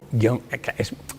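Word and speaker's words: guion: Es raro que nosotros digamos guión. Es normal que nosotros digamos guión, casi haciendo dos sílabas. Como es normal que nosotros digamos piano, cuando en realidad tendría que ser piano. Sí. Pero bueno, eso son costumbres a la hora de pronunciar, pero gramaticalmente es un monosílabo, no hay tilde.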